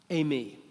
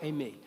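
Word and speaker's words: εἰμί: That phrase, it is I, is ego, that's the way it's pronounced in Greek, eimi. Ego, eimi.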